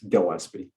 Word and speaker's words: Gillespie: over just because um my last name is pronounced with a hard g not not the not the gel sp so it's gil sp okay everybody out there